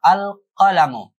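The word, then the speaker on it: القلم: adalah huruf eh qamariah sehingga cara bacanya adalah dengan jelas ya izhar alqalamu ee begitu juga e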